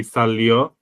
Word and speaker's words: salió: It's not because it's salir, so it'd be salió if the stress would be on the final.